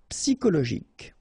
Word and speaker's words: psychologique: Psychologique, okay, remember it's an exception here because you've got this C-H-O. Normally we should pronounce it sho, okay, but in that case we pronounce it ko. Psychologique, remember, final Q-U-E like that, K.